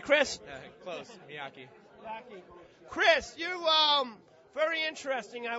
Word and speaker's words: Miyake: Close, Miyake.